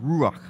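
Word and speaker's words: רוח: words that are translated as as spirit it's pronounced rock it means breath or or wind or spirit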